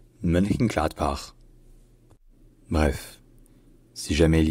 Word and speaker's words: Mönchengladbach: Donc le nom complet, c'est Mönchengladbach. Mönchengladbach. Mönchengladbach.